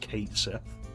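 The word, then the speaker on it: Cait Sith: hear that square conf that is going to be pronounced Kate Sith in rebirth I have seen I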